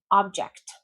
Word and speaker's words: object: Object, object, that's your noun. Object, to disagree. I disagree, object. Again, the verb, we usually stress the second syllable. Object is the first one.